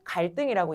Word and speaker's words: 갈등: 이거 발음할 때 어떻게 발음해? 갈등이라고 발음해. 갈등이라고 발음해. 갈등이라고 너네 발음하지? 뒷소리가 뭐가 나요? 된 소리가 납니다. 앞에 리을로 끝났고요. 뒤에 디고 나서요. 갈등이라고 발음해요.